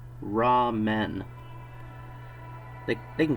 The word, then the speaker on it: ramen: Something called raw men.